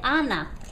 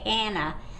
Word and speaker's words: Ana: A, like an Ana. A lot of people in English like to say Anna, but there's no A in Spanish. So that's A, Ana.